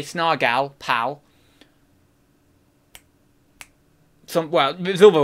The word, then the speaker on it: Snargle: Snargle. So it rhymes with, well, anything that's gull. Snargal. Well, no, you could say snargal, pal. Snargle. No, it's not snargle. I always say snargle. It's not. It's snargal.